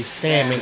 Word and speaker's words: salmon: Valerie Crosby, this is salmon, or salmon, however you say it, but I say salmon even though it don't say salmon. That's what it is. Salmon. S-A-L-M-O-N. The L is silent.